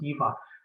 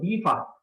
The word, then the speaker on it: Deva: But in India, this word Deva means the shiny one, something that gives off radiance and light. Or sometimes we pronounce it Diva. So Diva.